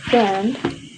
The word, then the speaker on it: friend: If we spell friend, there is Friend. But in the phonetic, there's only R. Okay, something like this. No I sounds. No I sounds. So I is the silent letter in the friend word.